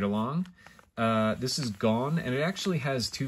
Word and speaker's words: Gon: So this is the letter's name is Gon, G-O-N. Pronunciation is the same, you know, like Gone Girl. So you might put an E at the end, Gone.